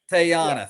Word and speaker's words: Teyana: I do think uh Teyana was just fantastic in that. I think I'm saying her her uh first name properly. Um not a lot Teyana Taylor. Teyana, thank you.